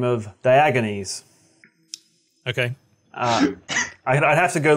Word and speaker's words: Diogenes: Getting Over It revolves around a silent man by the name of Diogenes. Okay. I'd have to go look up the actual pronunciation again.